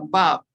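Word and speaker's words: Vav: Así que la letra 6 es la Bab. La Bab. La Bab. Se translitera con una W y se pronuncia como una B corta.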